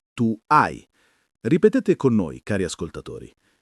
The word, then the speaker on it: hai: L'h in italiano è sempre muta, quindi io ho si pronuncia io o tu hai si pronuncia tu ai. Ripetete con noi, cari ascoltatori. Io ho, tu ai, lui ha, lei ha,